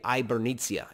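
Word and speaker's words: Hibernia: called san patricio de ibernizia h is silent in spanish so it's hyper it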